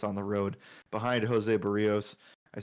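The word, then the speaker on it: Berríos: minus 132 favorites on the road behind Jose Barrios I said it right this time to start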